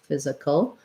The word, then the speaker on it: physical: and then we have letter s saying z in physical so fizz this letter i can either be an or a schwa it's just a very reduced vowel sound i'm going to put it as a schwa like a fizza physical and then this letter c stands in for the the k the k sound um and we have